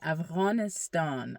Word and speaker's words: Afghanistan: Okay, so as I was saying, if you want to say the word Afghanistan correctly, like a daddy speaker would say, you would say aistan. Okay, there's a in there. Aistan. Okay, that's how you say it correctly.